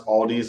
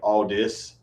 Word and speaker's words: Aldi: You know what's even funnier is that like I used to pronounce Aldi's like all this.